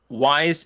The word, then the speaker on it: Wwise: do implementation for audio, Wise, it's spelled WWISE, so it's just the word Wise with an extra W in front.